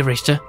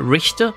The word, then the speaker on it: Richter: Listen closely to what we're about to say, Richter. Are you guys okay with me calling him Richter rather than Richter? Which would be like how English people pronounce it because they can't into CH.